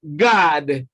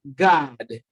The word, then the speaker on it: guard: Option C, guard. Again, R is silent, and we have guard.